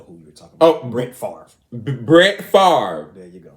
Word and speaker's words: Brett Favre: Oh, Brett Favre.